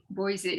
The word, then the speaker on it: Boise: Boise. Is that Boise? Boise.